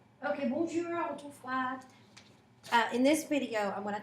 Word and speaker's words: y: So the y in French is pronounced as I when it's used as a word, not to be confused with the letter y, y in the alphabet.